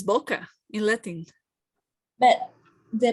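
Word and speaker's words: bucca: It's boca in Latin. But the pronunciation? No, boca, like in Spanish.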